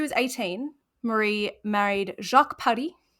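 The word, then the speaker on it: Paris: 18 marie married jacques paddy very fun name to say i did look up how to pronounce that one many times because the s throws me yes um another free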